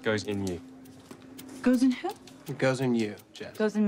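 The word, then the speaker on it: Goosens: Goss in you. It's pronounced goes in you.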